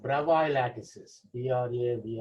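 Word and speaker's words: Bravais: lattice types are called bravo lattices we are here we are asked that s is silent bravo lattices am i making sense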